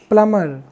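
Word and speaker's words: plumber: प्लंबर बोला जाता है क्या बोला जाता है प्लमर चलिए तो नेक्स्ट लेटर की अगर हम बात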